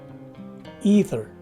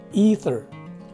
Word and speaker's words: ether: is our fourth word the phonetic spelling suggests that the stress is right before the word itself the first letter e takes a long e sound as indicated by the macron sign on top of that letter and the second one is a swath sounding e so this word is pronounced as ether again ether now this is our